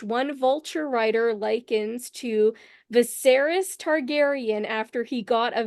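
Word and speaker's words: Viserys: right right SAR sarus that's right named after viseris named after viser viseris and the viseris before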